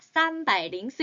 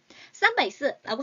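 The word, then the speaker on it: 三百零四: 우리 한국은 가운데 공 읽지 않지만 중국은 읽죠. 어떻게 읽어야 합니까, 여러분들? 그렇죠. 쌈바이 가운데 링스라고 읽으셔야 됩니다. 304. 쌈바이 링스.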